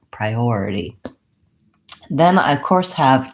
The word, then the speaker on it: priority: before the or and so that's gonna be my long syllable so I have pry already typically in a longer word the unstressed syllables take about as much time as a stressed syllable so I want to have a bob about a short long short short priority then I of course